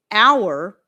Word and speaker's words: hour: Most people pronounce honest, air, as in HEIR, uh, honor, hour. These all start with H's that are silent.